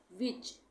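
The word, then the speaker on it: which: What, इसको हम क्या पढ़ते हैं, वॉट, एच साइलेंट हो गया। विच, विच में भी एच साइलेंट हो गया।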